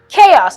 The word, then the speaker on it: chaos: c h 8o s chaos it's an an as well it is not chaos it's not once it ever has two syllables that's easier to remember